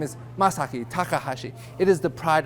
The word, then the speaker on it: Masaki: for Mishi uh am Miyaki masago is it you it's masaki actually I think to myself after I correct the pronunciation of my name where do they get